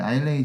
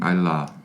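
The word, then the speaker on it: Islay: 지금 저희가 그 아일레이 지역을 두 가지로 발음했었잖아요. 아일라. 아일라라고도 하고 아일레이라고도 하는 거죠.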